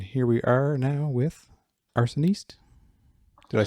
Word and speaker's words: Arsoniste: earth altar and here we are now with arsonist did i say it right hello yes you